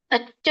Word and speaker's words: ತಚ್ಚ: ಇದರ ಒಂದು ಉಚ್ಚಾರಣೆಯನ್ನ ನೋಡೋಣ ತಚ್ಚ ಸಂಸ್ಮೃತ್ಯ ತಚ್ಚ ಸಂಸ್ಕೃತ್ಯ ಇದನ್ನ ಬಿಡಿಸಿದಾಗ ತತಚ ಅಂತ ಹೇಳಿ ಬರುತ್ತೆ ತತ್ಚ ಸಂಸ್ಮೃತ್ಯ ನೋಡಿ ಮುಗೆಯಿಂದ ಬರು ಹಾಗೆ ಇದು